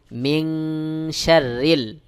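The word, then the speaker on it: مِن شَرِّ: গোপন করে পড়তে হবে যেমন মিন থেকে এখানে হয়ে যাবে মিং অনেকটা বাংলায় অনেস্বারের মত সহি উচ্চারণ হলো মিন শাররিল মিন শাররিল এই যে নাকের মধ্যে নিয়ে গোপন করলাম এটাকেই ইকফা গুন্না বলা হয় মিন শাররিল ওয়াও সিন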